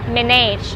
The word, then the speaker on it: manage: เรา ใช้ คำ ว่า manage อีก ครั้ง นะ คะ จะ มี เสียง ฉึก ๆ ที่ ท้าย คำ นิด นึง ค่ะ manage เดี๋ยว เรา จะ